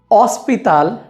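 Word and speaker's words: hospital: पहला नियम, स्पेनिश में आचे की कोई आवाज़ नहीं होती है। आचे no tiene sonido। इसका ये मतलब है कि कोई भी शब्द अगर आचे से शुरू होता है तो हम वहाँ पर आचे का उच्चारण नहीं करेंगे। उदाहरण के लिए ओला, जिसका मतलब होता है हेलो या नमस्ते, हॉस्पिटल, जिसका मतलब है अस्पताल, होटल, जिसका मतलब है होटल। तो इन सारे ही शब्दों में हमने आचे का प्रयोग नहीं करा है।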